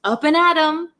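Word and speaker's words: up and at 'em: can hear some thunder so the actual word is up and at them but we don't pronounce it them we say m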